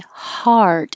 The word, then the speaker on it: heart: practicing hot hot and heart is the same as hot but you have the tongue to curl back and if you can't hear your R sound maybe you're not holding it in the r position long enough to hear the r noise hard and then you end with a t but you don't hear the T hot hat HUD and